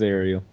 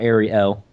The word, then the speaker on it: Arial: It is Ariel. Not Ariel. That's the fucking mermaid.